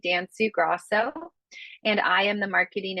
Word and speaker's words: Danciu-Gros: series um and yes my last name can be a little challenging to uh pronounce it's dansu Gro and I am the